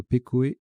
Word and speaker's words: pekoe: Le S venant mettre Pecoe. Pardon, ça se prononce Peco, je viens de vérifier.